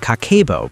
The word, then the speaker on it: Kakeibo: Long before spreadsheets, apps, or financial advisors, Japanese women in the 1900s used Kakeibo, pronounced Kakeibo, a handwritten monthly money journal.